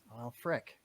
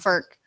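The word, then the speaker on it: Frk: Well, frick. No, not Martin Frick. Yeah, it's pronounced Ferk.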